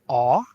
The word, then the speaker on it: a: Hungarian except it's reversed in Hungarian we have two forms of the it's either ah or Oz if it's ah the